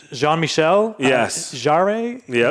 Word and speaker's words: Jean-Michel: It's so pronunciation. I'm guessing it's Jean-Michel.